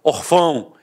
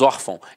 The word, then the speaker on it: órfão: fosse um acento gráfico eu não falaria órfão eu falaria orfão e não é o caso nós falamos órfão então a sílaba tônica